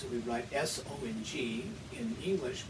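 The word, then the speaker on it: 松: pronounce it we'd write s-o-n-g in english we would say song like oh i have heard that song but this is good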